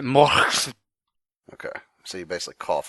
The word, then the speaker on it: Mor: It's from I don't know if it's Morvit or More Xvid. I don't know what this guy's name is, but it's MOR. You pronounce it more.